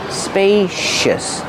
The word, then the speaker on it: spacious: Use a long a like pay and say spacious. The C makes a sh sound like shoes and show spacious. Use a relaxed sound at the end.